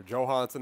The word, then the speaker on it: Johansson: Or Johansson, actually, is how he wants it pronounced, I think. Is what they said.